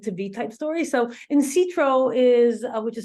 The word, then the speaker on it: Insitro: So Insitro is, which is spelled INSITRO, is the synthesis of in silico,